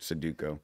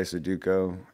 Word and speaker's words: Sudoku: hard to be smart Sudoku do you really you try hard at try Sudoku and that's not how you say it well you see I'm trying it's Sudoku are you dyslexic you're